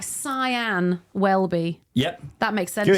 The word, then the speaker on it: Sian Welby: name or pronounce it don't write sha don't write scen write it like cyan wellby yep that makes sense